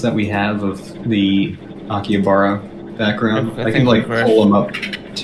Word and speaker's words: Akihabara: It's a Akibahara city district. City district. How do you say Akihabara. it? Akihabara? Akihabara? It's Akihabara.